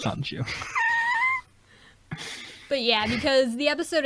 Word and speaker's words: Sonju: been saying it wrong the whole time, haven't I? I've been saying Shinji. It's Sanju.